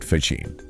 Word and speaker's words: Faggin: the monumental impact of Federico Faggin, pronounced Faggin, by the way. Right, Faggin.